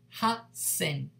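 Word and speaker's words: 八千: 8,000 is irregular, ha sen, ha sen, ha sen.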